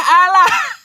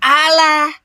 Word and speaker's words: Allah: Kalaunya kosakata bahasa aslinya Allah, jangan kau ubah Allah. Udah betul bahasa Arabnya Allah. Lalu kalian ubah Alah.